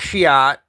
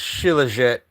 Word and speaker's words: shilajit: I call it Shiat, but it's Shilajit.